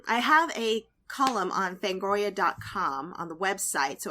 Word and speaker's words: Fangoria: have a column on fangoria decom on the website so if you're subscribed to fangoria and do you guys pronounce it fangoria or fangoria I say Fang like like a tooth yes that's how I